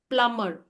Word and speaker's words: plumber: Plumber. Plumber is also, plumber is Plumber. Right? Here B will go silent.